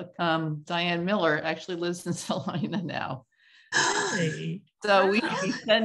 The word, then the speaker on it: Salina: in Kansas or in Salina for about 2.5 days. So yeah. I should definitely look her up. Yeah. It's funny. And you said it right, Salina, not Salinas.